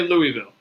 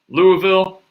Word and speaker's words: Louisville: kentucky earlier this year i quickly learned that i pronounced i say louisville louisville louisville however you want to say it uh but wrong yeah look people